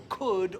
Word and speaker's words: could: La L no lo pronunciamos. Es que no. Tampoco en could o would. Esas tres palabras, could, would, should. ¿Oyes alguna L? No.